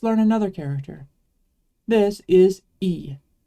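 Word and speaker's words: え: another character this is e it's always going to be pronounced like the sound in eat I guess it kind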